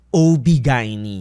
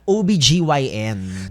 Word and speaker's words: OBGYN: OB Gini. Oh my gosh. Because apparently ang pronunciation pala non dapat OBG YN. Totoo ba ' ba? OBGYN siya pero ang street term is OB.